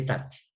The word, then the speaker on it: aetate: se llama nostra e touch se escribe aetate no se pronuncia no sea eta teaching pedir que dijo